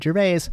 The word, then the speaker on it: Gervais: you say his name is it gerbei or gerbase and i was listening to a podcast with him and uh sam harris and sam introduced him as ricky gervais so i win meta i always